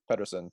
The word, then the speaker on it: Pettersson: And then today, I'd say my favorite's Elias Pettersson. Who? Pedersen, but Oh, I was on exchange, and the Swedish all right.